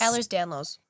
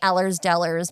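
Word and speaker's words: Ehlers-Danlos: which I will ask what how is it pronounced? Ellers. Ellers Danlos. Allers Danlos. Okay. cuz I was saying Ellers's Dellers because I felt like it rhymed and I was like, "No, that's not right.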